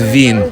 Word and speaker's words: Wien: awesome Vienna that's the term for Vienna Avene pronounced Veen oh I call Wiener Wiener I was a